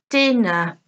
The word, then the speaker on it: dinner: Dinner, dinner. Police, police. Okay, so let's listen again to stress on the first syllable. We have market, letter, dinner.